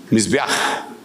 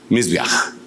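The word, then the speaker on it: מזבח: Va abajo, Mizbeaj. Mizbeaj. Entonces, déjeme contarle que, digamos, la última. Letras que están aquí, CH, pero realmente es una H que se pronuncia J.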